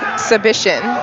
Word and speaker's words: Przybycien: Oh, Przybycien.